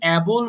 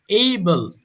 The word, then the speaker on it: able: এবং এই যে বলছো অ্যাবল বলছো অনেকে, কিন্তু এটার সঠিক উচ্চারণ হবে কিন্তু এইবল, এইবল, এইবল এরকম হবে, অ্যাবল হবে না।